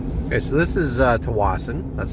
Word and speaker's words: Tsawwassen: we get arrested okay so this is uh to Watson that's how you pronounce it don't be a dick um about